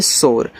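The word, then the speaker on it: shore: यस ओ आर ई, इसे पढ़ते हैं शोर।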